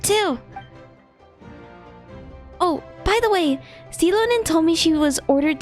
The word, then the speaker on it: Xilonen: Wow, so we'll finally get to meet Xilonen, the legendary Xilonen, forger of that's how you say it.